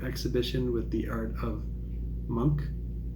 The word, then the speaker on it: Munch: with the art of Monk I think it's pronounced monk uh spelled m-u-n-c-h and I've already listened